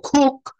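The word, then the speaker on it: cook: আমি এখানে কুক বলবো না, এখানে খ বলবো, খুক, খুক। হুম, এটা কেন খুক বলবো, আমি প্রোনাউন্সিয়েশনটা এখনই যাচ্ছি সেই জায়গায়।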